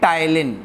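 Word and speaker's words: ptyalin: Salivary amylase को हम प्यार से बोलते हैं टाइलिन। क्या बोलते हैं? ये इसके घर का नाम है। क्या है? टाइलिन। P साइलेंट है।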